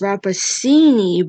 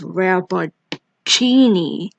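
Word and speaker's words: Rappaccini: c i n i you might think it's rapacini but nope it's rapper genie monica rappattini aka the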